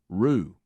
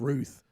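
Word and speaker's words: Routh: Uh, and the first time I saw him, somebody on the news say his name, they said Ryan Wesley Rue. Uh, but it looks like Ralph to me. It's Ruth.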